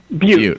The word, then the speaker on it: Butte: Butte. All right. The Pirates are a tame name unless, of course, you put them in a town called Butte Pirates.